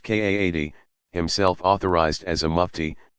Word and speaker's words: qadi: religious judge called a qadi, pronounced Kaadi, himself authorized as a mufti, to adjudicate the matter.